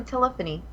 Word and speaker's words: telephony: to read so yeah you said it correctly telephony yeah it's not a